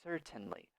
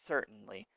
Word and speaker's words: certainly: certainly my American accent you can use it more t sound here and say certainly certainly it's your choice my pronunciation is certainly I say it more